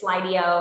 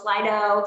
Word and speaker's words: Slido: saying the name wrong i keep saying it's slideo i think it's lydio slido slido slido that's what it is so make sure just